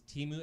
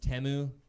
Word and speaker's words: Temu: since the Super Bowl I keep seeing these Teemu ads like you know you seen like the it's like the Chinese Amazon and I'm just my friend's like ralie it's it's pronounced temu brother it's pronounced communist okay like you piece